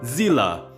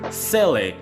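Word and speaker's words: Seele: If you play on English, the pronunciation will be Zila or Za or whatever you want to call her. But for me personally in Japanese, I rather call her Sel because I play Hungai back third.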